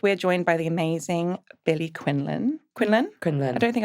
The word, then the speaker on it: Billie Quinlan: So I am Billie Quinlan, the official pronunciation of my name.